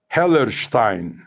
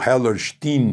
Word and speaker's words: Hellerstein: O juiz se chama Alvin Hellerstein, ou Hellerstein, como os americanos pronunciariam.